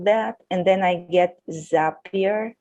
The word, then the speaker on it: Zapier: and then i get zapier is this how you pronounce that yes i have a friend who works there and they say zapier makes you happier so that's correct all right great but the